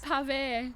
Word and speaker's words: PAVÉ: And tell me about the name as well, because I was having a wee bit of trouble pronouncing it before. But tell people how it goes. PAVÉ.